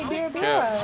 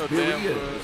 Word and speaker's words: birria: I always say birra. It's birria.